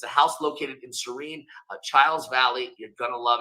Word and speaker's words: Chiles: It's the Chiles Valley, actually, is pronounced correctly there.